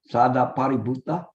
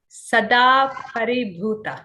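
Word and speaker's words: Sadāparibhūta: Is that close enough? Sadaparibuddha? No, I don't know this name. Oh, okay. It's Sadaparibhuta.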